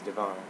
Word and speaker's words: Devin: My name's Devin, and I guess the official pronunciation is Devon, because it's French, but I won't get into that.